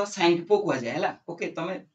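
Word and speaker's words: Tsangpo: সাংপো ঠিক আছে ওকে টি টি টি টা সাইলেন্ট রহে তো স্যাংপো কয় যায় হেলা ওকে তবে পরীক্ষারে দেখিও তো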